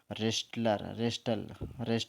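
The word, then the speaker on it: wrestler: worship project हो जाएगा रेसलर का मत बताओ कुश्ती restoral से रेसलर बोलते हैं हम क्या बोलते हैं रेसलर है ना कुश्ती बात तो डब्लू साइलेंट रेसलर का मतलब होता है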